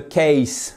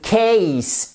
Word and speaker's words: case: case, et pas the case. Non, the case, ace. C'est un « et » ici. C'est une diphtongue, c'est un son double et fort, un peu comme le « a » de oseille.